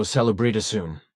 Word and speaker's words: Salubritason: The name is thus pronounced in such a way that the O is emphasized in a drawn-out manner, as you have just heard from me. So Salubritasun, pronounced with two O's, so to speak.